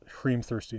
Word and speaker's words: hrímþursi: Notice that it's hrímþursi, not just thirsty because we need that extra syllable, but also because that makes the H alliterate with the H in the line before it.